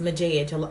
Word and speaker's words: Majige: name is but my channel is pronounced mojej a lot of people pronounce image EG Oh massage which I actually like a lot Mathias here on YouTube he actually pronounces my name massage and like I love the way he says